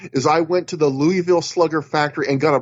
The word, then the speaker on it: Louisville: i'm a louisville guy louisville right that's how you pronounce it louisville not louisville um hey the louisville